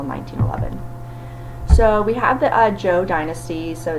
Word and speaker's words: Zhou: So we have the Zhou dynasty, so it's ZH, but it's pronounced like the letter J.